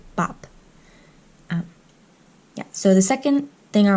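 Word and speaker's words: 밥: It's bap, but you can see biup used twice here. At the beginning, it's like a b, ba, and at the end, a p, bap.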